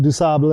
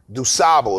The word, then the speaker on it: Du Sable: about Toussaint, and I couldn't tell them about Du Sable, and because I didn't. Du Sable? Yeah. Now, for those who don't know, Chicago was founded by a Haitian immigrant named Jean Baptiste Du Sable is what we say.